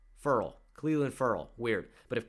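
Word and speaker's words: Ferrell: Ed Oliver, Quinnen Williams, Cleveland Farrell, and it's not Farrell. He doesn't say it like Will Farrell. He says it like referral. Farrell.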